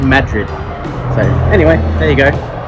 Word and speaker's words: Madrid: So goes to a town called Los Cerrillos and another town called Madrid, which is spelled Madrid, but apparently it said Madrid.